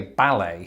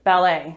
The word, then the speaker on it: ballet: or anything like that i think it's more to do with where we place the emphasis i say ballet how do you pronounce it ballet this is a really